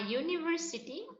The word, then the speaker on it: university: If the pronunciation of E or U starts with that of U, then before that very word we will use A. See, A-U-V. Okay, so the pronunciation has started with U, and that's why we